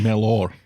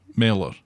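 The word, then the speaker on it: Mellor: was Will Mel and I said that you pronounced that Mel no Mela that's what I said no you said Mel or it's either Mel or it's Kim meler it's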